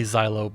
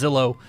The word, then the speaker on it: Zillo: or the Zillow Beast I say Xylo but I'm pretty sure it's pronounced Zillow doesn't matter so so